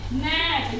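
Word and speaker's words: gnat: silent होता है जैसे जी नेट इसको हम बोलेंगे नेट जिसका मतलब होता है मच्छर ठीक है य हमने जी नहीं बोला हमने इसको बोलना है नेट जी का वर्ड हमने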